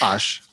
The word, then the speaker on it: Osh: is it, do you prefer Ash or Osh? Osh. Osh. Yes. Did I say it wrong? I said it wrong. That's okay. Everyone does. Osh.